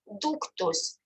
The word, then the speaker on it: ductus: In Latin, duct is ductus. You can see that letter U is pronounced like U.